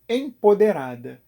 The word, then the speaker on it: empoderada: isso surgiu o neologismo em poder ada mas não sei porque tem gente que coloca um n no meio da palavra o radical da palavra